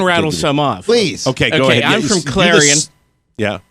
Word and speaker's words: Clarion: and beautiful whores yeah Carla it like weird pronunciations of of like places example I can rattle come on please okay Clarion yeah clearing and how's that spelled CL AR IO n